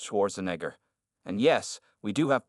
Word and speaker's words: Schwarzenegger: judge's mocking your honor he replied clearly it's pronounced Schwarzenegger and yes we do have property laws in